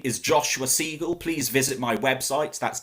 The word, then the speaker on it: Seigal: rhyming as i said my name is joshua siegel please visit my website that's www dot joshua